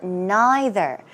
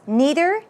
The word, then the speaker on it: neither: would say neither or neither this word is pronounced two ways neither neither okay especially if you